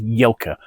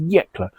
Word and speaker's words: Yecla: correct myself from my previous video where I pronounced the region as Yelka. I'd managed to transpose two letters there and I should know better because the region concerned is Yeklla.